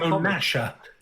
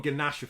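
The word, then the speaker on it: Gnasher: creatures yeah different indeed with a G that taught me how to spell with a silent G as well yes I used to call him gasha for so long when I was a kid but um anyway back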